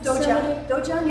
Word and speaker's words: dojang: you call it studio dojang is the Korean word wonderful say that again dojang doang dojang that's the koream word in Japanese it's Dojo